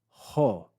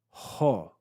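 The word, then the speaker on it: ὁ: this rough breathing Mark it's equivalent to adding an English letter H before the Greek vowel so this is pronounced ho ho we have the Omicron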